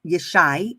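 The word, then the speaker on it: ישי: so David's father uh Jesse or ish is she is how yishai is how it's pronounced in the Hebrew um really looked at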